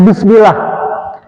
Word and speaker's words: Bismillah: Tapi kalau misalnya jer atau kasroh, ya, dia tipis. Tarkik, ya, sudah belum? Tarkik, ya, tapi yang tarkik. Misalnya Bismillah, Bismillah. Ya, tipis Bismillah.